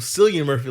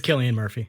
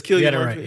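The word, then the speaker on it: Cillian Murphy: that a lot of people been calling him San Murphy like I like I wonder if this is really it's Killian Murphy it's kilan Murphy okay it's it's people not doing the research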